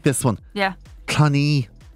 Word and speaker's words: Cluny: Cluny. Some people think it's Clooney. Like George.